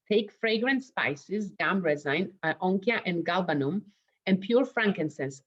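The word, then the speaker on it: Onycha: I had to listen how do you pronounce it. It's an onychia.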